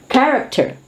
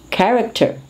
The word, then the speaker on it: character: of material used for the fabrication of cars character character this is what we are proud of when